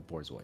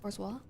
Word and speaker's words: Borzoi: Oh, Comparing it to the most fucked up dog I could think of, the Borzoi. I think it's pronounced. It's not pronounced bourgeois. Okay. That was Borzoi.